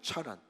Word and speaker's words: 차란: h 그래서 하란이 맞아요 그런데 지역적인 하란은 chan 아입니다 란이에 차란 김철승 할 때 철할 때 CH 쓰는데 처 이제 차란 예 차인가 모르시 죠 이게 제 본토 발음이 아니라 그니까 치에 가까운 발음이 난단 말이 그니까 전혀 다른